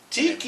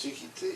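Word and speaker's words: Taika: Was Taiki Waititi, I believe is Tiki, yeah, that's the way you pronounce it.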